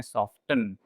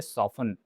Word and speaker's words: soften: Generally लोग उसको miss pronounce करते हैं, लोग प्रोनाउंस करते हैं सॉफ्टन, जबकि इसमें टी साइलेंट है, इसलिए इसको प्रोनाउंस किया जाना चाहिए सॉफन।